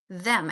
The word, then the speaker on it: them: So, when you're speaking, you're saying them like it's a z. I want you every time you're saying the th sound to stick your tongue out and put your finger in front of your lips.